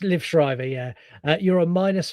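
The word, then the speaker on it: Liev Schreiber: Uh, Lib Shrider. You're on. I don't know if I pronounced that correctly, but you can definitely give me that. It's Liv Shrivever.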